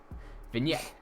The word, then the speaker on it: vignette: It is not read as vignette, nor is it read vignette. It is vignette. The G is silent. It's a vin, and then it's French, so then it comes yet.